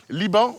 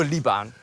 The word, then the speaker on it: Liban: -It's pronounced "Liban"? -Not Libon? -No, Liban!